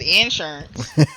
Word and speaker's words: insurance: He said insurance. Insurance. You know down here we put the emphasis on that first syllable.